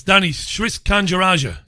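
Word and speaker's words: Danny Sriskandarajah: seconds it surprised me well done Kay for pronouncing the guy's name properly it's Danny's risk and eurasia the icon says Danny risk under Asha he's the chief executive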